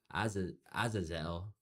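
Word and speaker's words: Azazel: The ancient Jewish text, the book of Enoch, Aazelle, that's how you say it, is named as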